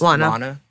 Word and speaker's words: Lana: So Lana Condor, did I pronounce that right? It's Lana.